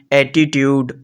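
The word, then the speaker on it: attitude: चे की आवाज देंगे अगर टीयू एक साथ आ जाएंगे तो यह भी चे की आवाज देंगे जैसे देखते हैं जी एक्चुअली एटीट्यूड और पंक्चुअल पॉइंट नंबर फिफ्थ हमारे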